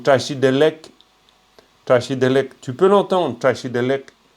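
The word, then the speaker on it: བཀྲ་ཤིས་བདེ་ལེགས: Tu peux l'entendre, Tachidelek. Le K, très léger, mais c'est pas Tachidelek. C'est pas lek. C'est Tachidelek. Vraiment comme si, tac, à la fin, tu as un petit truc qui court derrière, quoi.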